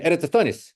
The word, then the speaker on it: Eratosthenes: comes from this guy ostanes uh a Greek friend of mine said Oh you mean Eris so apparently that's how you say it um he actually had